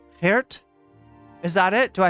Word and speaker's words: Geert: Pronouncing the J in Dutch is like gurgling your throat while sounding out the G. Geert. Am I doing it? Don't cap if I got it. Geert. It's like Geert.